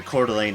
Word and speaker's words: Coeur d'Alene: it was very easy to run into people mispronouncing them like like I used to live in Coeur d'Alene Idaho for bits and in Quarter Lane is definitely definitely a French word a lot